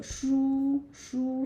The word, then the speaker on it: 书: Yeah, so 书, first tone, which is a high tone.